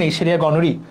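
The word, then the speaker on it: Neisseria gonorrhoeae: গনোরিয়া অনেকে উচ্চারণ করে এরকম, বাট এটা আসলে উচ্চারণটা হলো নেইসেরিয়া গনোরি।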